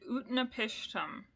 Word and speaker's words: Utnapishtim: So Gilgamesh gets concerned about life and death, so he seeks out an immortal man named Utnapishtim. And that's exactly how it sounds.